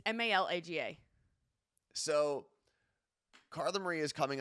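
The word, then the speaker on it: Málaga: I think it's Malaga. No, it's not Mayorga. It's Malaga.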